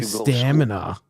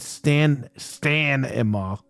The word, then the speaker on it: stamina: I say stamina. It's your stamina, you fuck. Nobody said Stan-ima.